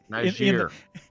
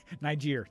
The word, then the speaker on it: Niger: I don't know how to pronounce that because if I try, I'm going to slaughter it horribly. Niger. Niger.